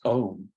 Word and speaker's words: Om: like working with is OHM when we first hear um um we we see it often or it's spelled as o m but we can think of it as comprised of a u n and one of